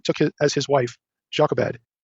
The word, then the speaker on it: Jochebed: it as his wife jacques abed his father's sister or joe kaveh would be the better hebraic pronunciation amram took his wife